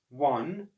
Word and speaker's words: one: One, because that sounds like it starts with a W, that's spelled O-N-E.